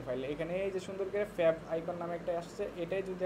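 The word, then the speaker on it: favicon: মধ্যেই আর এই জিনিসটাকে বলে ফ্যাব আইকন ফেবিকন অনেকে অনেক কিছু বলে ওটা না সুন্দর উচ্চারণ হল ফ্যাব আইকন এখন আমরা যদি এখানে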